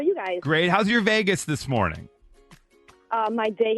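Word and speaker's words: vagus: my uh pronunciation of vagis uh Vegas well so your mom was firing up her Vegas nerve not her vagis nerve and I apolog tomato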